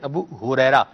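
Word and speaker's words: ابو ہریرہ: ماشاءاللہ آپ کا جو ہا کا تلفظ ہے یہ بہت تیز ہے. چلیں مرحبا. ابو حریرہ نہیں ابو حریرہ, یہ ہا ہے ٹھیک ہے جی.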